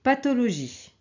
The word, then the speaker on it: pathologie: ok avec H aussi et pathologie pathologie mais on prononce t c'est pas comme en anglais ok essayez de l